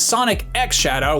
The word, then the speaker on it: Sonic X Shadow: of the Blue Blur there are a lot of different ways you can pronounce the X in the middle of a title like this and I'm told that in this case it is Sonic X Shadow which is maybe not